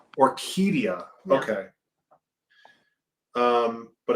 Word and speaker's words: Orquídea: Orquídea. Orquídea. Yeah. Okay. But it's spelled differently than this now.